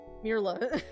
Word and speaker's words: Mirla: I've been pronouncing it Marilla before, but it's Mirla.